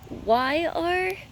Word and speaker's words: Zephyr: Zephyr? It's Zephyr, or it is one of the yellow hybrid squash.